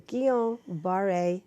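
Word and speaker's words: Guillain-Barré: the rest of the stels title it's the keel bar a syndrome love to put it up on the screen because nobody knows that spell it it's French GU IL l AI n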